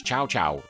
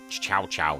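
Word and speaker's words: Cao Cao: From there, the player recruits officers, raises armies, and battles rival warlords such as Chow Chowo. Yeah, Chowo Chow. C AO CAO. I'm pronouncing that as Chow Chow in a quest to unify the land.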